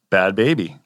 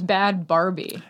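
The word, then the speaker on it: Bhad Bhabie: It's Bad Baby. Why did I think her name was Bad Barbie? A lot of people do. Okay. I thought that initially as well, but it's just the way it's spelled because there's H's in there and people just want to know.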